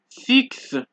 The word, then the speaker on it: six: Exceptions being six and index, right?